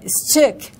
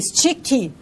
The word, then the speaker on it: stick: Stick, né? Então, nós falamos o quê? Sticky. Por quê? Porque temos a tendência em acrescentar o I, né?